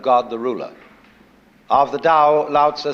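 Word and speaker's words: Tao: call tau that's pronounced Dao if it had an apostrophe after it it would be pronounced tau but now there's more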